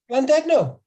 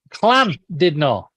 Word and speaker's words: Llandudno: Landegno. No. Say it again. Oh God. No. Say it again. It's clan. Clan did not. Right. If it's double L, it's clan.